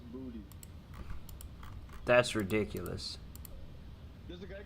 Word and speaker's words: Boutte: And then there's an NFL player right now who I'm watching, whose name is Kayshawn Boutte, but it's pronounced Booty.